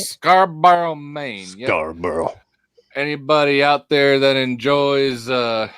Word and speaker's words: Scarborough: Am I pronouncing that right? Scarborough, Maine. Yep. Scarborough.